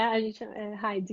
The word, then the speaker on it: Heidi: Heidi, que pronuncia? É Heidi que se pronuncia.